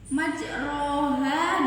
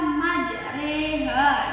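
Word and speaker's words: مجراها: cara membacanya juga bisa Hai majroha dibaca majreha itu bacaan imalah Ndah disini Agung baca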